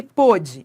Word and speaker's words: pôde: É a sílaba tônica, tá? Mas o timbre, o timbre ele é aberto ou ele é fechado? Ó, ele pode abrir a porta, o timbre é fechado.